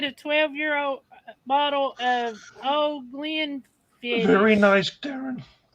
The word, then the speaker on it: Glenfiddich: is a Glendafitch or Glenda? Glenfiddich.